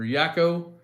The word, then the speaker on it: Yako: Take care, Mad Yoko, or Yako. Pronounced like taco.